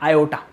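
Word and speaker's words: aorta: पढ़ने में आपको ऑर्ट्रा लग रही होगी, पर एक्चुअली में इसे प्रोनाउंस करते हैं आयोटा।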